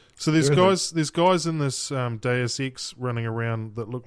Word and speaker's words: Deus Ex: Yes, Deus, Deus Ex.